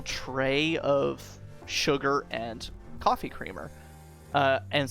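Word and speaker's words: CR33-R: It name is creamer, but it's spelled CR33 um Mr. um hyphen R.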